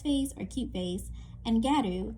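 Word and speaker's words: ギャル: Fashions like uljung, a Korean term meaning best face or cute face, and garu, the Japanese pronunciation of the word gal, short form for girl, an eclectic Japanese style with many, many, many variations and subcategories.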